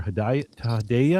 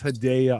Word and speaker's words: Hedaya: It's the 22nd of January, 2026, and I'm here with Haya. I'm going to say it right. I practiced at Haya, but it's Hidea. great to be here.